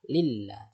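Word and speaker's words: الله: Jika harokatnya fathah dan dhammah, maka dia dibaca tafkhim atau tebal ya. Tapi jika sebelum lafaz Allah itu harokatnya kasroh atau di bawah, maka dia dibaca tipis.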